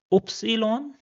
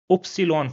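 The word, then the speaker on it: Ypsilon: The next character is pronounced as oopsilon. Oopsilon for yak.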